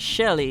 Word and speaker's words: Chelly: monument in Arizona and that is spelled shell c h e l l y but it's pronounced she and it's massive it's about